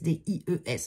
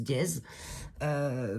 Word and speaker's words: dies: Les dies, D-I-E-S. Alors je sais qu'il y en a certains qui prononcent dièse. Pour moi, c'est dies en anglais.